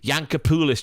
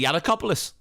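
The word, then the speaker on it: Giannakopoulos: Yankopoulos, do you remember? Certain commentators would go Yankopoulos when it's clearly Yiannakopoulos.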